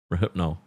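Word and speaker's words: Rohypnol: I mean, they literally gave us the pronunciation. Rahypnol.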